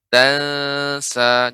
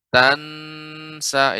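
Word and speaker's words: تنسى: Ikhfa pada kata tansa. Jadi bukan lidah menempel di langit-langit. Tansa ini kurang tepat. Akan tapi tansa, tansa.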